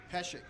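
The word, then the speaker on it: Pesek: we and I'd set their tone going its Pesce PE s EK it's not Messick it's pest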